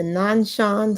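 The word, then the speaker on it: Nanshan: Then we have the nonshan sleeping Buddha in China.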